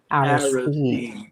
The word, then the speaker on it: Aristide: Haitian former president, um, and I'm going to pronounce this, John Bertrand Aristide? Aristide, Aristide. Aristide.